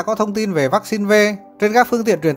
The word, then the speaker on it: V: thông tin về vaccine V. Trên các phương tiện truyền thông của Việt Nam vẫn đọc là vaccine 5, song thực ra nó là V, viết tắt của chữ Victoria.